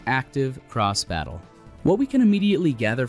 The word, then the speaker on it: Active Cross Battle: x battle ax ve system pronounced active cross battle what we can immediately